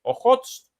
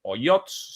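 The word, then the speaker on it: Ojotsk: de Japón, en el mar de Ojots y o Oyots según la pronunciación, y en el o el noreste del océano Pacífico.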